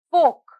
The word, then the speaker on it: folk: is silent the next word is folk folk folk here the letter l is silent next word talk talk